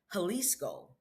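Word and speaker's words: Jalisco: And the trip into the state of Haliscoco cuz that's where I moved to Halisco was sounds like an H but it's spelled with a J you know Spanish thing.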